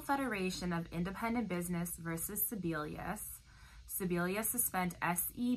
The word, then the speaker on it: Sebelius: case is National Federation of Independent Business versus Sebelius Sebelius suspend SE b e Li us it's spelled SE b e lu asked and it